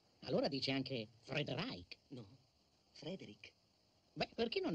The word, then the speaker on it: Frederick: No, si pronuncia Frankenstein. Allora dice anche Frederick. No, Frederick.